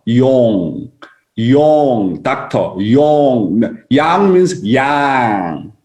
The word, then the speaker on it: Yong: You know, the Korean about Yang and Yong is different. Dr. Yang, Yang, and that's why I'm telling you how to pronounce my name. Yong and Yang is different. You need to look at my mouth. My name is Yong. Your mouth need to come out.